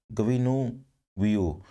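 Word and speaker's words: Guinevere: तो legendary king Arthur के बारे में है, और गविनु व्यू, इनके प्रोनाउंसिएशन पे थोड़ा सा ध्यान दीजिएगा, गविनु व्यू, क्योंकि ये फ्रेंच लैंग्वेज से वर्ड लिए गए हैं।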